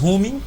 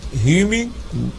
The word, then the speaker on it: Hume: Nós temos aí David Hume, ou Hume, depende aí de quem quer pronunciar.